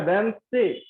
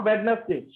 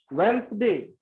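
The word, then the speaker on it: Wednesday: अब देखो वेडनेसडे का राइट प्रोनाउंसिएशन होता है वेंसडे, नॉट वेडनेसडे, वेंसडे।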